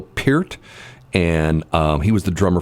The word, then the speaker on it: Peart: Most people know him as Neil Peart, but the correct way to pronounce his name was Neil Peart.